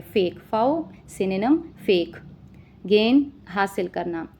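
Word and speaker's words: faux: एफ ए यू एक्स दिखने में ऐसा लग रहा है जैसे इसको फॉक्स प्रोनाउंस किया जाता है बट fox pronunciation is wrong इसको जो है वो फऊ बुलाया जाता है।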